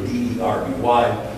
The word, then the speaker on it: Derby: Or Derby, well, Derby, D-E-R-B-Y, they pronounce it in England, Derby.